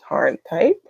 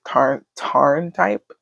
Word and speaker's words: Tharntype: But here's Tharntype. I don't know if it's Tharn type or Tarn type, but the way they were pronouncing it in the drama, it seemed like it was Tarn type.